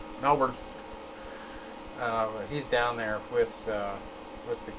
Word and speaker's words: Melbourne: That's how you pronounce it. Melbourne. Not Melbourne. Melbourne.